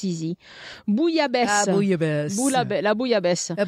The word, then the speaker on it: bouillabaisse: Yeah, and I think the problem here is the spelling. Bouillabaisse is a Bouilla. Bit. But that is that O U I L L. You have to really learn how to pronounce that. And then once you do, it's in a bunch of words. You know? Yeah. But it is a kind of strange thing to realize you see all those letters and it goes bouille.